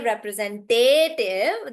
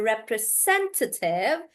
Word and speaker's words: representative: You don't say representative. There is no te in it. So you say, I'm a representative.